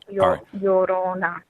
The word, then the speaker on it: Llorona: Spell it. L-A and space L-L-O-R-A. No. It's L-L-O-R-N-A. N-A? Okay. Llorona.